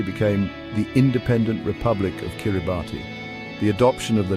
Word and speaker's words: Kiribati: The pronunciation with the S sound for T became an integral part of their new identity, a linguistic marker that distinguished their own name from its English origin.